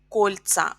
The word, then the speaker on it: кольца: Pay attention that the stress also is changed in plural. So, кольцо. We have о, the final о is stressed in singular, but in plural, кольца, the first syllable is stressed.